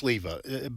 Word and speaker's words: Sliwa: I think it's Sleva, but it's spelled Sliwa, but I think it's pronounced with a V.